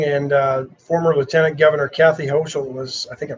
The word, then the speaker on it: Hochul: He resigned this morning, and former Lieutenant Governor Kathy Hochul was, I think I pronounced that right, was sworn in at 12:01 this morning. How do you spell it? H-O-E-S-C-H-U-L? H-O-C-H-U-L.